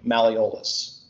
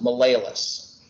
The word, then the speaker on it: malleolus: eventually i'm going to make a mistake on pronouncing malleolus and if you notice i pause right before